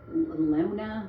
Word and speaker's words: Luna: And then there's a woman named Maylee, I think is how you pronounce it, Maylee Luna. It's Lewna.